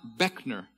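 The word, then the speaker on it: Buechner: bue CH any art it is my name it is pronounced Beckner if somebody mispronounces it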